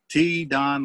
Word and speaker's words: T-Don: don landry and uh t don landry that they spell that t-e-e so it's t-don like little don and uh don landry